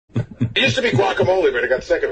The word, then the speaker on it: guacamole: is silent guacamole guacamole wacamole wacamole the g is silent yesac what was the last